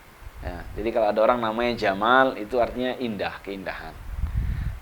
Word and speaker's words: Jamal: apa yang pertama Al Jamal Al Jamal itu artinya keindahan Jadi kalau ada orang namanya Jamal itu artinya Indah keindahan tapi syaratnya mimnya yang panjang Jadi kalau panggil Jamal eh Jamal harus panjang namanya kan Jamaludin Nah